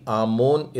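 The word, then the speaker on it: אמון: है में है वो के ऊपर बिंदु है मतलब ओ की मात्रा वही मतलब मोह और फिर फाइनल नॉन है तो ए मो और एन और इसे एवरी में भी अमोनी इस तरीके से उच्चारण किया जाता है अमूल शब्द का अर्थ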